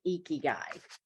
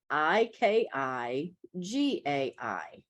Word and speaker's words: ikigai: eight which is the goal of setting with ikigai Kiki got paid so yes let's throw another word at you and it is spelled i-k-i-g-a-i ikigai Kiki guy okay okay and it's a